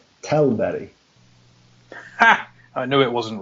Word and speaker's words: Tällberg: Alright, well I know for a fact his pronunciation of Tällberg is wrong. Go on then, how should it actually sound? Tällberg.